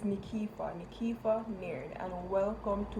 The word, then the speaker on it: Nykefah: my name or know how to pronounce it is it is it is nikifa nikifa nerd and welcome